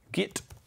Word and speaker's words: Git: instead of chain volume, I'm going to rename this one Git. Rhymes with kit, and it's my guitar sound.